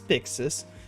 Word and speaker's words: Byxis: yes my name is my name is Pixis um I'm surprised a lot of people have come across they they do say it right um it can get